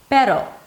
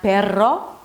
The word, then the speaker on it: pero: If we think of the word pero, pero, not perro, right? See, I know how to make those two R's. No, the short R in Spanish, pero.